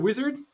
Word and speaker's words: Uizard: better um yeah anyway the company is called wizard with a u as a first letter instead of a w okay and we are